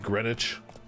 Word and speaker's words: Greenwich: I always feel it's one of those things like Greenwich where it's like you just don't pronounce the W.